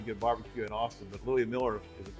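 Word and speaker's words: Louie Mueller: have some pretty good barbecue in Austin but Louis Miller is how you pronounce absolutely Louis Miller Lou Miller has been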